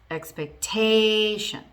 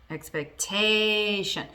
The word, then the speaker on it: expectation: Expectation. Expectation. The stress moves from the second syllable of the word to the third, which is the second to last in that word.